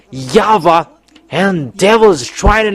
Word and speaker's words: Yahweh: we keep it there in Jewish they pronounce W into V and that has been